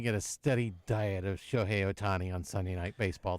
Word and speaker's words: Shohei: Shohei, is that how you say it?